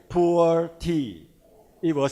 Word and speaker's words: Pu'er: The traditional Pu'er tea, and they are Pu'er tea in China, pronounced as Pu'er, and then from now on, Atomy Pure tea will make it Pu'er tea.